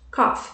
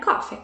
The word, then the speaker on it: coffee: lemann game of place sempre que vocês podem falar a palavra coffee lembre de colocar esse e no final cofre ok se não fica cof cof tosse tá gente koff não é coffee coffee café e a